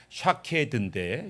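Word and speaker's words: שָׁקֵד: 살국꽃.이 이 살구꽃이라고 하는이 히브리 단어가 샤케드인데 샤케드 히브리어는 몸이 없어요. 자음만 씁니다. 자음만 쓰고서 샤드 샤카드 이렇게 있는데 샤케드는 살구 꽃이에요. 근데 동일한 단어를 다른 발음으로 샤케드가 아니라 샤카드로 발음하면 얘는 일어나라, 깨어나라 이런 뜻입니다.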